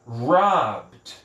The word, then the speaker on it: robbed: Neste caso, o verbo rob, a pronúncia dele no passado fica apenas, esse ED fica som de D, então fica robbed. Robbed. Repete aí comigo. Robbed. Ó, B, eu vou do B direto pro D. Robbed.